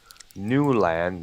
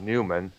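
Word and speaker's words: Newlan: here guess appearances by Paul newand not Newman it's a this one this one is spelled n w l n and a couple of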